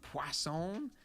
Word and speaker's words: Poisson: called poisson disk distribution poisson there's no W in it but I was told that that's how you say it I guess it's French when we use this